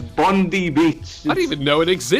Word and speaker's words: Bondi: stole a surfboard, so they had to close Bondi Beach because of this, because one surfboard... How did you just pronounce Bondi?